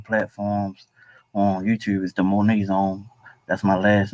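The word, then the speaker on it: Moaney: was the Monaet zone. That's my last name. Monae. Spell it.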